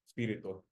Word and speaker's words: Espíritu: Anyway, however, it is very easy to pronounce Espiritu. Espíritu.